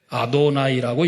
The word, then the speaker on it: 아도나이: 그래서 성경에서 여호와라는 말이 나오면 이스라엘 나라 사람들은 여호와라고 읽지 않아요. 여호와라고 읽어야 되는데 여호와라고 안 읽어요. 뭐라고 읽습니까? 아도나이라고 읽어요. 주라는 뜻입니다.